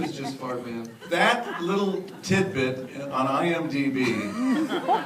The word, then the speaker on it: Fart Man: played a character named Fart Man. It's pronounced Fartman. I'm sorry? Fartman. Fartman. But it's actually spelled Fart Man.